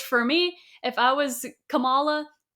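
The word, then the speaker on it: Kamala: Which for me, if I was Camala, yeah, I said it right.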